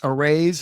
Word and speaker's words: Arise: perfect for your audience it's arrays like raising funds and you work hard